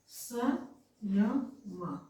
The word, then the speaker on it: संयम: उसी तरह से इसका जो पंचमाक्षर क्या है अंग, तो उच्चारण हम क्या करेंगे संयम, अंग हो रहा है स के बाद अंग संयम, संयम करेंगे।